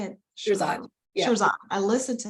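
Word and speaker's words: Shirzad: I always get his name wrong. I know how to say it. Shiraz.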